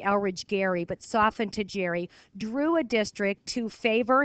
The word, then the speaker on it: Gerry: Named for Eldridge, it was actually Eldridge Gerry. They softened it to a soft G.